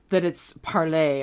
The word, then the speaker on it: Parler: I'm assuming that it's parler. I'm assuming it's supposed to be pronounced the way you... So parler is French for to speak. And it's Parler.